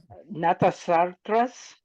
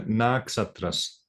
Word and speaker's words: Naksatras: Stars, natasatras, planets, satellites. Yeah, Naksatras. Natasatras. Naksatras. It's like first you say the na, and this ksa is one actually one sound, ksa.